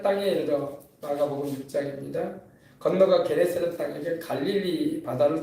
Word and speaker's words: 게네사렛: 원래는 이제 긴네렛인데 이제 우리 발음상으로 게네사렛이라고 한 겁니다.